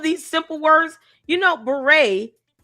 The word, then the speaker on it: beret: You know, beret only has five letters, two syllables. Beret. Beret. Two syllables, five letters.